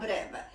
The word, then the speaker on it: breve: That means it's called Alla Breve.